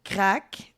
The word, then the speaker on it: craic: Puis non le crack c'est prononcé crack. Mais c'est pas de la drogue. Ça s'écrit C R A I C.